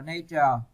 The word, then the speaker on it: nature: Các bạn lưu ý là chữ danh từ các bạn đọc là nature, còn tính từ các bạn đọc là natural nha.